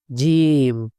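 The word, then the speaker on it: جيم: জিম। শক্ত করে জিব্বার মধ্যখান থেকে উচ্চারণ হবে।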